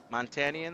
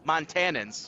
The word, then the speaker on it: Montanans: Montanians? Is that how you say it? 75. Montanans, yeah.